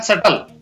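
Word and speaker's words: subtle: इसी प्रकार सटल, यहाँ पर भी B है वो साइलेंट रहेगा।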